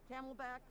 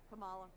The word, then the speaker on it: Kamala: I don't think Biden's going to make the 4 years, and the Camelback, forget it. The Camelback, who's that? Kamala. Oh, wow. That both mispronounced the name and xenophobic.